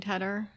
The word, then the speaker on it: Tedder: So I just say, it's like the cheese, cheddar, but with a T on it, just so they remember. If people are mispronouncing Tedder.